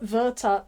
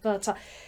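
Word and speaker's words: Werther: find Vera um and I will call it Vera because I'm so used to calling it verta properly it is the Sorrows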